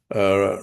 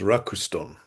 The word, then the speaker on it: Ruxton: Well, um, you may know that foreign names get written in katakana, and quite often my name is written Rakusuton, so that becomes Rakuston.